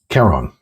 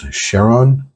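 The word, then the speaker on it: Chiron: trust the most is Kon I believe in the previous um video for episode 4 I mispronounced kon's name as Sheron sorry about that my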